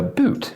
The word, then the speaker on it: Boot: So this word is spelled the same in English and in German, but it's pronounced differently and has a different meaning. In German, it's pronounced Boot, and it actually translates to boat.